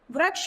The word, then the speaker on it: वृक्ष: में व जो है व के साथ अगर हम ऋ की मात्रा का प्रयोग करेंगे तो इसके उच्चारण में भिन्नता आ जाएगी अगर हम इसमें र की मात्रा ऋ की मात्रा नहीं लगाएंगे तो बन जाएगा वक्ष जो एक गलत शब्द है लेकिन जैसे ही